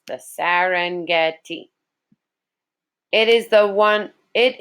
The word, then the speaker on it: Serengeti: a nickname of the Serengeti okay so it's pronounced the Serengeti it is the one it is one of